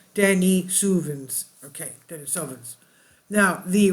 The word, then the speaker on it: Denisovan: with another close relative known as the Dennis sovin pronounced Denny suin okay Dennis sens now